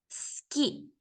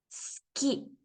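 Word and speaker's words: すき: yo tengo la palabra Ski Ski que significa gustar Ski en este caso la u no está al final de la palabra pero tenemos que eliminar su ido para pronunciarlo correctamente una vez más sonido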